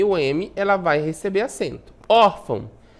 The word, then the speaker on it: órfão: Órfão, uma paroxítona, né? A penúltima sílaba tônica é o OR, né? Terminada em quê? Em AN, olha só, terminada em AN, vai receber o acento.